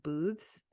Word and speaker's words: booths: it the Feast of booths and it sounds like you're saying booze like like the alcohol I'm trying to pronounce the th booth I kind